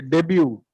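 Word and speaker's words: debut: movie से यस सर डेब्यू तीर silent है ब्रेक थ कर लीजिए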